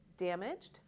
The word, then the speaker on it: damaged: Similarly, for these 2 words, it looks like damaged or loved, but it follows the same rule. These words are damaged and loved.